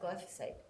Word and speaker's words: glyphosate: word go for safe glyphosate I always want to put another syllable treatment is one that